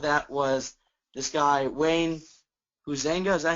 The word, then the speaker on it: Huizenga: And I thought a good example of that was this guy, Wayne Huizenga. Is that how you say it, Dad? Yeah, Huizenga.